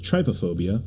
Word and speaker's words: trypophobia: Do you have, I want to say it's trypophobia?